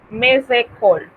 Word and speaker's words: mes école: En ese caso tenemos una liaison y lo que vamos a hacer es que esa S la vamos a convertir en una Z e inmediatamente pronunciamos la siguiente palabra. Mes école, como si fuese una sola palabra.